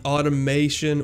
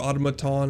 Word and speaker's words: automaton: Today we have the automation, or automaton as it's actually called.